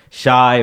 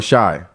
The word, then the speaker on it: Shai: Or Shai. I know the nigga's Canadian. Shay. Right? Shay.